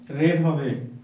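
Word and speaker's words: read: এখানে আমি যখন বলব পাস্ট এর উচ্চারণ রেড হবে।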